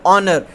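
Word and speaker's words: honour: The first letter of the word ऑनर, ऑनर में आप देखेंगे इज़ अ कॉन्सोनेंट, वैसे ये कॉन्सोनेंट है, एच आपका क्या है, कॉन्सोनेंट है, वॉवल नहीं है, कॉन्सोनेंट है, बट इट्स अनप्रोनाउंस्ड, ठीक है।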